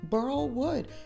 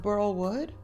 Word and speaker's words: burl wood: I said it wrong did I say it burl wood it's a not bur wood let me know I'm